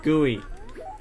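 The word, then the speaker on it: GUI: create whatever gooey I want and yes it's pronounced gooey you may think it's like some goop or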